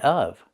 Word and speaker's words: of: And what about the VV sound in of? Well, you don't have to make that sound.